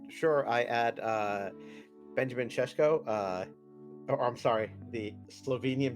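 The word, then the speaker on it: Šeško: I add uh Benjamin cesco uh I'm sorry the Slovenian benteke and Brahim Diaz I I still think that Benjamin Cisco is a much better that's actually how you pronounce it yeah I I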